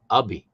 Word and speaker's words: Ubby: Ah, Ubby. He corrected our pronunciation. It's actually Ubby.